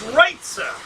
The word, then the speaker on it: Reitza: Reitza, guys, it's Reitza. You guys keep saying it wrong.